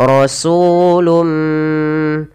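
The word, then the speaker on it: رَسُولٌ: Maka gabungkan tanwin ke dalam mim dari " rasulum". "Rasulum" lalu lepaskanlah.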